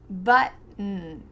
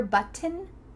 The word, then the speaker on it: button: Button, button. Do you hear button? Nope, just button.